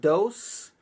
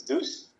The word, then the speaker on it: DOES: I pronounce it dose. Uh, that's just how I read it, but you said like in different countries they pronounce it differently. True. Yeah. Yeah. Actually, it doesn't really matter to how you pronounce my name. In Spain, for example, it's dozens where I'm from, it's it's deuce. Okay. In England, they say they say does.